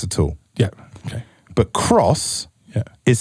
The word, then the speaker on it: XROS: you carry on possibly this here does not say xeros nope it doesn't say axros nope it's meant to say cross it's now it's cross everyone's been saying it